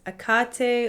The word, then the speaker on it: Hecate: I like the name Hecate. That's how she showed up to me. Some people say it's pronounced Hecate, or like the H is silent.